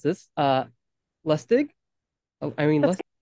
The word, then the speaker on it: Lusztig: Let me know if I pr mispronounce this. Lustig? Oh, Irene That's Lustig.